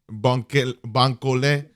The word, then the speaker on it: Bankole: Help me pronounce that again. Bankole.